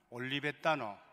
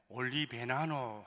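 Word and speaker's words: Olivetano: 저는 경남 고성에 있는 올리베타노, 올리베타노라는 뜻은 올리브의라는 그런 형용사입니다. 이 올리베타노 이 발음을 못해가지고 좀 어려운 것 같아요. 우리는 당연한 줄 아는데 올리베나노 하는 사람도 있고 오리베따는 제가 신학교 다닐 때도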